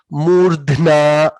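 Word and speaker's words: मूर्ध्ना: Murdhna, dha is there, na is there. Both letters should be heard, and you also have rakara, refa.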